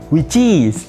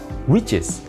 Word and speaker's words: which is: Which is, itu adalah versi recehnya. Tapi yang benar adalah which is. Yes. Bagaimana cara mengucapkannya dengan benar? Which is. Bukan which is.